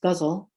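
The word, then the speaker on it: ghazal: gosul it's spelled g-h-a-z-a-l pronounced guzzle as in guzzle your beer it's an arabic form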